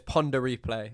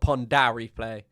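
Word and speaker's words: Pon de Replay: Oh, no. It's ponder replay. It's not pond replay.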